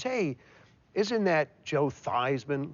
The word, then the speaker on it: Theismann: we think just by changing the pronunciation of your last name from thian to thyman to Ry with he